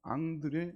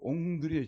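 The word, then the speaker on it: André: 이 흐름에 대해서 도전했던 사람이 누구냐 그러면요, 유명한 프랑스의 문학가 앙드레 지드입니다. 예, 찾아보니까 옹드레 지드라고 이렇게 발음해야 된다더라고요.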